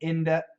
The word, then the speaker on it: into: usual absolutely Angie ah into can be Inda Inda yeah it can be Inda um I would say IND the I went into the store I went into the